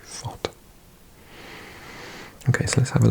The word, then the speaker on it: FotMob: FOTMOB, FotMob. I keep on pronouncing it FotMob, but it's actually Fot.